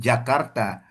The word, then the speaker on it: Jakarta: Karena sepanjang yang saya tahu gitu ya, penulisan huruf J itu ya yang ada hubungannya dengan kota yang ada di Indonesia, ya kita sebut seperti yang ada pengucapan Indonesianya gitu ya. Misalnya ich wohne in Jakarta ya kita pakai J gitu, Jakarta.